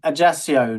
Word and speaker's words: Ajaccio: Ajaccio, Napoleon's hometown.